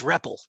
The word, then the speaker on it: REPL: get the pronunciation right it's Rebel yeah like Ripple the old drink hey um yeah all